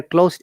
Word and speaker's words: closed: that enclosed okay yeah the s should sound like z because here closed is an adjective or past participle form of the verb remember that pronunciation yes